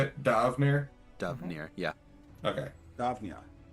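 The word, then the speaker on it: D'Avenir: Davnear?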